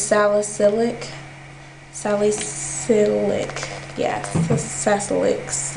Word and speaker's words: salicylic: refreshes and twos Neutrogena sacylic acid I think that's how you say it oh I say it wrong I say sicilic it's salicylic Sally silic yeah success